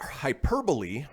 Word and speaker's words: hyperbole: make that up, said, I thought hyperbole rhymed with Super Bowl until like 6 months ago. So he thought hyperbole was hyperbole as opposed to Super Bowl or hyperbole. Okay. Didn't quite rhyme like Super Bowl, but all right.